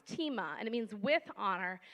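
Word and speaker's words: τιμή: And the other word, it looks like time, but it's actually pronounced tima, and it means with honor, and it's to value, respect, highly esteem, treat as precious, weighty, or valuable.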